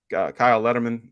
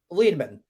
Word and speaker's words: Liedman: Letterman, I butchered your name. I'm sorry. Say his name correctly for me, Brandon. Oh God. Now you're putting me on the spot. Hot take. Well, not hot take. Fun fact. I'm dyslexic. Liedman. Liedman.